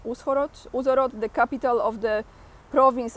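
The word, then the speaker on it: Ужгород: In Uzhhorod, I think you don't pronounce H, Uzhhorod, the capital of the province of Transcarpathia, Colonel Andriy Savchuk runs the State Recruitment Center.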